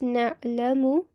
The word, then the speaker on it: نعلم: So this would be read as na'lamu ma. Can you try that? Yes. It's not a sakin.